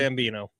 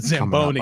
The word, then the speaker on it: Zamboni: I'll tell you the best way to take in hockey is like on the Zambino. No, it's the Zamboni.